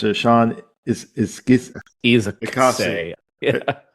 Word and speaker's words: Izaakse: And the art, correct me how to pronounce it, Sean, is Izaakse. Yeah. Izaakse. I think okay. Yeah. I think that's right. Izaakse.